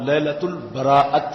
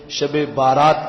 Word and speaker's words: لیلۃ البراءت: اس رات کا نام لیلۃ البراءت ہے۔ عمومی طور پر اس کے تلفظ میں بھی کچھ لوگ غلطی کرتے ہیں، اسے شب بارات کہہ دیتے ہیں۔ تو بارات اردو کا لفظ ہے اور براءت عربی کا